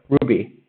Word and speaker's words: RWBY: between the two so ruby uh it's spelled dumb that's one of the main graphs of the not being clips it's just one of the fun things about the show is that the show is called ruby but then the four main characters the first character is called ruby rhodes and the ruby the show is spelled rwby but ruby rose is both